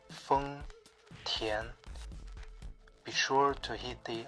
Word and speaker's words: 丰田: Chinese phonetic alphabet, is Feng Tian, with a first tone on Feng and a second tone on Tian. When you say Feng Tian, be sure to hit